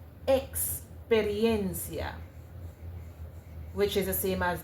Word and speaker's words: experiencia: But then when you go to the Spanish language, the sound that you actually get is a ks sound, right? A ks sound. Experiencia, which is the same as the x sound.